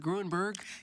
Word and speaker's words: Grueneberg: Did I say that right, Grueneberg? You said it right.